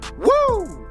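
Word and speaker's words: Woo!: Actually, it's pronounced Woo Tungsten, W-O-O exclamation mark, because that's the sound you make when you catch a giant bass.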